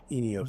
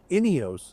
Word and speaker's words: Ineos: Like the Ineos, I said it wrong. The Ineos, it's a subtle wrong, but it's a wrong.